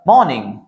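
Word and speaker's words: morning: है, उच्चारण है, उसमें आर, देखिए आर से पहले वॉवेल आया है, are should be silent here. तो यहां पे बोलते समय र का प्रोनाउंसिएशन नहीं होना चाहिए, इन द मॉर्निंग बोलना है। मॉर्निंग, मॉर्निंग र नहीं आना चाहिए, इन द मॉर्निंग।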